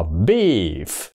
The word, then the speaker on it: beef: mà nó chỉ đó Nhớ nha nó cũng không phải là B B ph nha Mà nó Tức là cái như âm phờ mà bỏ ra cái nguyên âm là ờ đó đó nó chỉ